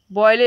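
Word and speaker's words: Boyle: Robert बॉयले या बॉयल, जो आपको पढ़ना है पढ़िए, एक्सप्लेनेशन थोड़ा उच्चारण अच्छा रहना चाहिए।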